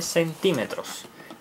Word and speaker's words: centímetro: Esta línea mide 7 centímetros. Ahora, pero hay otras unidades de medida. Está el centímetro. Centímetro. Centímetro con acento en la I.